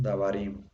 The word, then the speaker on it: dabarim: Entonces, dabar, en teoría así nada más lo ponemos dabarim. Pero, aquí entonces la sílaba tónica sería la última, ¿no?